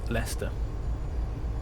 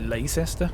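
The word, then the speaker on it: Leicester: good guess they should I love it when Americans pronounce um leester always get a good kick out of that I know it's a bit daff to be like H you pronounced this thing wrong that is actually really intuitively um not intuitively at all actually it's the opposite of intuitively it's really unintuitive um well they'll say like Lester or Lester I don't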